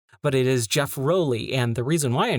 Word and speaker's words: Rowley: relly which I found out that's how you pronounce his last name I always thought it was Rowley but it is Jeff roelly and the reason why I know this is